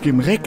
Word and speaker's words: Gimrak: Es wird Gimrek ausgesprochen. Ja, das können wir uns ja noch überlegen.